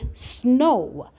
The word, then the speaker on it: snow: So O W makes two different sounds. It can sound like o like in the word snow, but it can also sound like in the word cow.